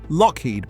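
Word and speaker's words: Loughead: Alan and Malcolm Lowhead, spelled L O U G H E A D and pronounced Lockheed, built their first sea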